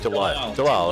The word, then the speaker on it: Delisle: Delisle, I think. How do you say that name, Dave? You can know it. Delisle. It is. Sorry, Tim Delisle.